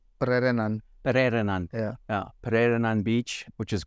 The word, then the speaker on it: Pererenan: We had the little competition, the team competition that you put on over in, how do you pronounce it? Pererenan. Pererenan.